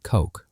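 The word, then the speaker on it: Koch: His most prominent ally in this, the neuroscientist Kristoff Kulk, rhymes with oak, had already spent years hunting for the seat of consciousness in the brain alongside Francis Crick.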